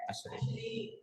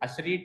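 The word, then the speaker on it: usherette: Version हो जाता है अशरेट। अशरीट नहीं, अशरेट, अशरेट।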